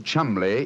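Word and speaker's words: Cholmondeley: Being an American, he had no reason to know that the name Chumlay is in no way pronounced the way it is spelled.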